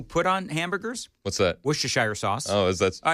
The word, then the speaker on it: Worcestershire: Worcestershire sauce. Oh, is that? All right, so do we have a pronunciation from the Google pronunciation lady?